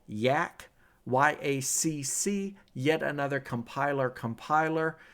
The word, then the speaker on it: yacc: another compiler compiler yacc it's pronounced Yak like the animal yak and so uh programmers